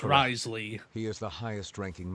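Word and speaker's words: Wriothesley: it's a very true I can now say it correctly risely like John Lee it's risely he is the highest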